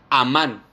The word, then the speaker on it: amán: original griego se transcribe como amán con acento en la a el creer y literalmente